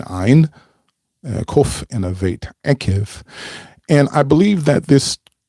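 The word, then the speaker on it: עקב: And that Torah portion is called Akev. Akev spelled with an Ein, Kof, and a Vet. Akev.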